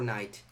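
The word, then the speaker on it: knight: up for tonight for night not tonight the K is silent in case you want to learn the English language the case silent so in Italian we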